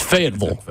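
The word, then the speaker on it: Fayetteville: and there ain't no Ville in fville it's fville you spell that VL at the end of it fnam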